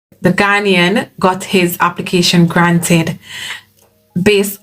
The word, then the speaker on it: Ghanaian: So it's a Ghanaian. Yes, that's how you pronounce it.